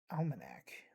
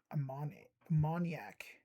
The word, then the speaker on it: ammoniac: I keep saying almanac, but it's ammoniac.